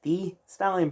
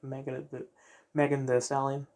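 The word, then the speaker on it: Megan Thee Stallion: But no, that in the show they're pronounced Megan the Stallion, and actually they sound it quite quickly as if it's one word.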